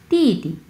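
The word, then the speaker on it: 弟弟: আচ্ছা এখানে আসি, এটা হচ্ছে তি তি তি তি, প্রথম অংশ 4 নাম্বার টোন, সো তি, পরের অংশ নিউট্রাল টোন, সো ধরেই ছেড়ে দেবো আমরা।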